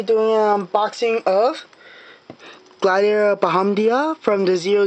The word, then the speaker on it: Bahamdia: And also, I want to mention that right here, there's also supposed to be a U, because it's pronounced Bahamdia.